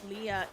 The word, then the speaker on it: Lea: I don't know what everybody's opinions are of her but like that's I figured it was Leah because that's how you say her name spelled the same way.